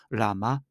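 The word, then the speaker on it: לָמָה: 주목해야 할 단어가 있습니다 어찌하여 번역되어진 아람어 라마 있니다 히브리어도 라마로 발음을 합니다 라마는 두 단어의 합성어입니다라는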